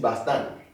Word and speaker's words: bastant: manjo made see nti bastan and also the same thing. The T is silent like mall, then you add an A to get the feminine singular form bastanta, see?